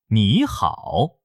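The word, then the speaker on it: 你好: 第一个第三声要读成第二声，比如你和好连在一起要读成你好。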